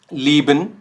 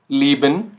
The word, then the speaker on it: lieben: बट ये sound कैसे कर रहा है, जो हमारा ई अल्फ़ाबेट होता है इंग्लिश का।